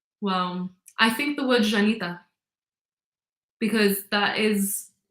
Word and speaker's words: Llanita: I'd always say I'm proud to be Janita. On National Day, I write Janita down my arm. Perfect. How do you spell it?